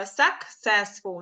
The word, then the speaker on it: successful: Коли у нас є подвоєна літера Сі, то завжди перше читається як «и», а потім як «сі». Тому successful, наприклад, успіх, да? Successful, тобто «ки-си» буде.